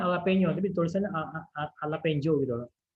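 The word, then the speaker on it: jalapeño: Dibacanya jalapeno tapi tulisannya jalapeno gitu loh.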